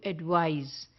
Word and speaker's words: advise: is s e so with the spelling the pronunciation also changes and therefore it changes from advice to advise because in one the sound is of c and the other the sound is is of s or rather Z there because the sound